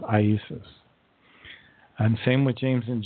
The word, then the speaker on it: Iesus: But it was never Jesus. It was Iesus, in Latin, Nazarenus Rex Iadorium, which today we say Jesus the Nazarene, King of the Jews.